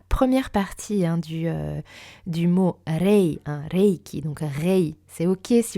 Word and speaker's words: Reiki: Donc, en japonais, Reiki se prononce donc Reiki avec un E allongé, presque un peu comme un accent grave sur le E. Et alors attention, on ne dit pas Raiki ou Raiki, voire même Raiki.